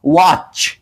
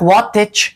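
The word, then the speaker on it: watch: ولی در مثال بعدی واچ ای هیچ وقت واتچ نمیگوییم واچ واچ از ایجه در اینجه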